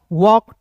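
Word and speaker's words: walk: टॉक वॉक, टॉल्क नहीं पढ़ेंगे, वॉल्क नहीं पढ़ेंगे, इसे टॉक वॉक पढ़ते हैं, क्लियर है।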